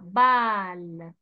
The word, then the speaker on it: balle: Ici, il n'y a pas O, il y a A. Balle.